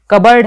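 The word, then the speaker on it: cupboard: अब देखिए फ्रेंड, जो साइलेंट पी कहाँ कहाँ पर होता है, कबर्ड है, साइकोलॉजी है, कोलम, ये तो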